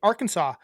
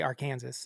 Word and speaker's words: Arkansas: that say it better say it right Arkansas I don't I do not like when people say Aransas it sounds stupid I don't either but